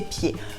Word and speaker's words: pieds: Our second example for today is bête comme ses pieds. Bête comme ses pieds. As you can notice here, I don't say the D, you can hear it.